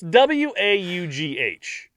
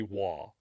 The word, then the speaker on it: Waugh: It's Waugh. And I thought, well, maybe it's like, if it's some nationality would be like Vaugh or something. But no, she's from Westmoreland, England. So it's not going to be any type of weird pronunciation. Stephanie looked it up the other day and it came up as Waugh.